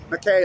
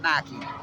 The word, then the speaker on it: McKay: They told me we don't pronounce it McKay like Fawn McKay Brody, like David O. McKay, this famous name here. We pronounce it Mackey.